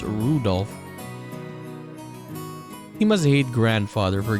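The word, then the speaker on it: Rudolf: on it's just anyway this guy's name is pronounced Rudolph he must hate grandfather for giving him that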